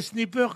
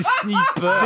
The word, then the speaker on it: sniper: Non, mais en plus, Non, si je n'avais que des snipers comme toi, crois-moi que je sortirais sans gilet pare-balles. Hein. Des snippers. Des snippers.